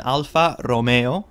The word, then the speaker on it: Alfa Romeo: is interesting first of all it is an Alfa Romeo and that's how you pronounce the name of the company the model